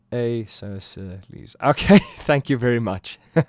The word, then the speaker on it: Aeschylus: It is pronounced Aeschylus.